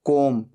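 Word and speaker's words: comb: hanging virus बाल बनाना कॉम को एम बी यहां पर बी साइलेंट होता है सिर्फ बोला जाता है कॉम तीन फॉर्म्स होते हैं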